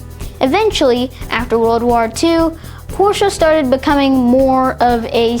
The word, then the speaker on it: Porsche: It's commonly mispronounced as Porsche, but it's actually pronounced Porsche.